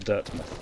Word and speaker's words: Dirtmouth: Also, I have seen other people pronounce it Dirtmouth, but you have places like Plymouth and Portsmouth. So I'll be pronouncing it Dirtmouth.